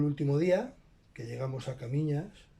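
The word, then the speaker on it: Caminha: Entonces llegó el último día, que llegamos a Camiñas. Yo en plan de broma decía Caminjas, porque no lo pronunciaba en portugués, lo castellanizaba, ¿vale?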